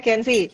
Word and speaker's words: Kenzi: Bacanya Kenzi.